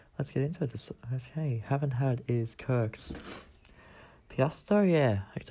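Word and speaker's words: Pasito: Okay, haven't had is Kirk's Piasto, yeah. That's how you say it, Kirk's Piasto.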